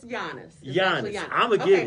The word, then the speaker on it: Giannis: Take the J off. Put a Y there. Yanis, right? But don't say that. It's not Yanis. It's Giannis. It's Giannis. So think of Yonis. Giannis. Giannis. Phonetically, that's what it is.